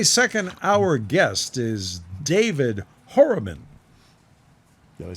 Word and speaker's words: Horobin: My second hour guest is David Horobin.